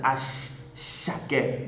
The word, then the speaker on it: Asake: Yes, it is spelled Asake, but in Yoruba it sounds like Ashake.